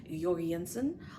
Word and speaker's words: Jensen: um I believe it's not actually pronounced George Jensen it's something more along the lines of yansen um please don't make